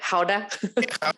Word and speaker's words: Gouda: Gouda?